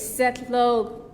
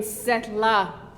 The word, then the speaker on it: Setlo: My Koyukon name is Setlo. I was pronouncing it wrong for a while. I was saying Setla, which means my Koyukon name is Setlo.